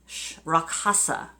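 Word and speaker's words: Rakshasa: it right anyway so the answer is rock rock hasa it's RAK sh a sa is the spelling but it is pronounced ROC Hafsa so there you go we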